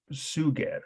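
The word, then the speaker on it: Suger: was invented by a bishop sugar that's s-u-g-e-r very similar sounding name to sugar but that's not what's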